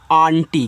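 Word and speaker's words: aunty: ए यू एन टी वाई इसको पढ़ते हैं। आंटी क्या पढ़ेंगे? आंटी पढ़ेंगे। अभी यहां देखो अंकल में यंग आपका अंग हुआ था। यहां पे आप आंटी पढ़ोगे यानी कि बड़ा वाला आ और ऊपर ऐसे बिंदी।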